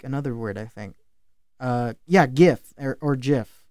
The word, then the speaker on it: GIF: He said that it is pronounced GIF Oh with a shit. soft J, soft G.